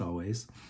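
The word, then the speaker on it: Alvvays: again always spelled with two v's um but pronounced always and it's a song uh dream tonight dreams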